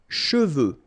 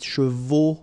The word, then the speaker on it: cheveux: of a problem because some of the students normally pronounce it chevaux, okay? So try to keep in mind that you've got E-U here. So it goes like okay, and then final X not pronounced, final X, should pronounce it the French way, final X is not pronounced, so you get cheveux,